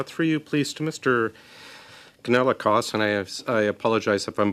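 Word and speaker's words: Kanellakos: Yeah, the pronunciation of my name, that's not the first time, it's Kanelakos.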